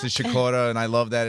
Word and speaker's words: Sikora: say Sakura I mean that's the polish pronunciation what I get stuck you know I get the business from my father who's just like what are you doing you're an American wait that's my grandmother of pronounce chacorta and I love that